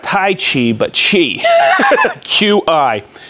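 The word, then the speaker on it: Qi: tough time pronouncing it q-i technology which is pronounced i found out chi uh not tai chi but chi q-i it's inductive charging technology so when i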